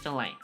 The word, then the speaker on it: fillet: Filet. Okay, they're both pronounced filt.